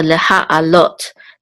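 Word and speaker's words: לְהַעֲלֹת: So leha alot. This is the main accent at the end. Leha alot.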